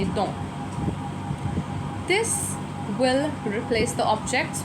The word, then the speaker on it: dont: Again, we are not going to pronounce the T at the end. We would just say dont.